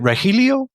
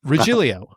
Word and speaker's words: Regilio: Is it Rahilio? Uh I wish I'd get more work. No, I'm just a boring Italian. Uh Rilio.